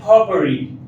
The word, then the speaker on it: potpourri: इसका एक और सिनोनिम आपको बता दें, potpourri, इसका प्रोनाउंसिएशन है potpourri।